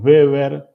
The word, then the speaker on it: Weber: Por eso decimos beber, como si fuera una B, no se escribe con doble B.